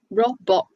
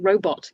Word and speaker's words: robot: say that you'd say no rob bot isn't quite right is it robot yes yes robot robot